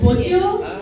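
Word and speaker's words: bojio: Okay, the next word is called bojo. Bojo? Okay, this is spelled B-O-J-I-O.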